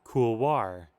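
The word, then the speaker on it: couloir: on a mountain side cool War why would you do the French oi and then also pronounce the R I hate English all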